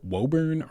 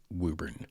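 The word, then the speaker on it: Woburn: It looks like Wuburn or Wuburn maybe, but it is not. It is Wuburn. Just trust me on this and say it Wuburn if you ever go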